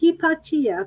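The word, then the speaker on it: Hypatia: two pages from ptolemy's hepatia her name is pronounced hipatia because she was greek she was she was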